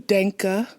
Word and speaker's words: Denke: called him father dank it's actually Danka with the correct pronunciation but we're gonna go